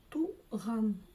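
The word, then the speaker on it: туған: Нужно каждое слово разделить по слогам и освоить всего лишь несколько букв из казахского алфавита. А остальное читается точно также по правилам русского языка. Можно было бы сказать, но меня, наверное, тапками закидают. В общем, учимся читать, дамы и господа. Туган. Туган. Туган.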